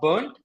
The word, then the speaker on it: Bernd: My real name is Bernd, but probably nobody can really pronounce my name properly, so that's why I say, "Oh, you can call me Bernard," right? So more people, I think, Oh, no, I can pronounce it right. Bernd is the right one, right?